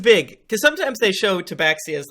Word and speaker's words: Tabaxi: Okay, so in walks a Tabaxi. Tabaxi, is that how you say it? Uh-huh. Tabaxi.